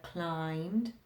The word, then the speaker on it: climbed: uh you could have climbed can't hear the b uh how about compound